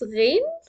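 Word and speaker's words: غين: It's like the gargle sound. There is a vibration, but in the throat, that gives us the Ghayn. If you are familiar with French language, they pronounce their R and R, R, R, R, R. This is the sound.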